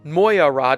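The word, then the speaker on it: Mogyoród: Round 14 of the season is the Hungarian Grand Prix, held at the Hungaroring in Magyaród, Hungary. I'll tell you, I had to look up how to pronounce that one.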